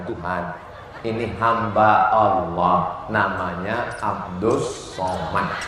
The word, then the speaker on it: Abdus Somad: Ini hamba Allah namanya Abdus Somad. Tulisannya Abdul Somad, tapi cara bacanya Abdus Somad.